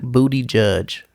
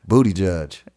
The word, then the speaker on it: Buttigieg: I could barely pronounce it. Yeah. But how you say it? Booty Judge. Booty Judge.